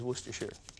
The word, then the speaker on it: Worcestershire: of worcestershire sauce but there's no such thing it is worcestershire and i appreciate your